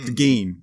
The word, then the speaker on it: Gein: Oh, Geen, okay. Geen. Okay. I read his transcripts from his interview, and he says in there, pronounce it like green without the R.